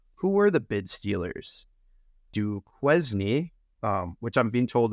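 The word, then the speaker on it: Duquesne: were the bid Steelers do qune um which I'm being told is actually pronounced Kane I guess it's French uh University of Alabama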